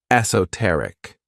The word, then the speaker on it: esoteric: This word has 4 syllables, and the stress is on that third syllable, esoteric.